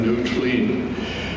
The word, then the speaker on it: Noowtlein: This high water tidal island, this is spelled Noowtlein, New Clean, was occupied by the